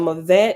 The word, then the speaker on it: mavet: And Mavet is spelled MAVET, and it's reference number 9.